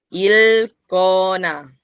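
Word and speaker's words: 읽거나: Ven, no se pronuncia la K, sino la L. Il cona, il ilcona.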